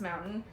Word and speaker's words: MAMNTN: Next person is, let's see, Christian Hansen, and so it's three different accounts, but same person and same company, is MAMNTN, pronounced mountain, and Slow.